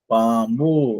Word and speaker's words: பாம்பு: பா இம் பூ. பாம்பு. இந்த இம்மு வந்து ஒரு சடன் பிரேக் மாதிரி. சடன் பிரேக்னா டக்குன்னு பிரேக் பிடிச்சா எப்படி நிப்பாட்டுவோம், அது மாதிரி இம்.